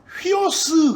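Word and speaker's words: υἱός: 그 다음에 이제 네 번째 물고기 하는 네 번째 글자가 휘오스 그래.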